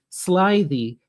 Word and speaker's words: slithy: Pronounce slithy as if it were the two words sly.